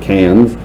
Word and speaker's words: Cairns: So we went to Australia, visited 3 cities in Australia: Sydney, Cairns, which is kind of spelled like Carnes, but they pronounce it Cairns, and Darwin, which, yes, was named after Charles Darwin.